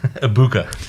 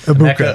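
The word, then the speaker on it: Egbuka: You don't have to pronounce the G.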